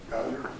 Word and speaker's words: Vallier: Vallier. Vallier. I bet I've called it Valerie a million times.